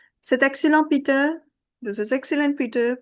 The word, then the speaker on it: c'est excellent: T at the end will not be pronounced because it's a consonant. C'est excellent, Pierre.